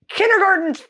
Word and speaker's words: Kindergarten: So kindergarten's freaking German. I'm sorry. Okay, back to the video. We're probably going Sorry. to do that on all of these. My mind's blown. In German, we pronounce it Kindergarten, and it literally means children's garden.